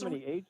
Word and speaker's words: hegemony: here, the other day, I'm pretty sure the word you were looking for was hegemony, because you pronounced it hegemony. Yeah, it H-E-G-E. is hegemony. That's Hegemony, yeah. it's so difficult With for the me to emphasis- say, and you're right. It's hegemony, but wait a minute.